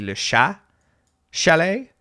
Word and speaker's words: Le Chat Chalet: I know that the T is, I think it's supposed to be Le Chat Chalet. You're not supposed to pronounce the T's at the end of words.